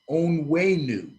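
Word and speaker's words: Onwenu: know this this kid his name is michael on wayneu o-n-w-e-n-u on way new he came in as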